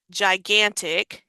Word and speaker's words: gigantic: So words like Ji, gigantic here, GI, or maybe this word with before the E like gem.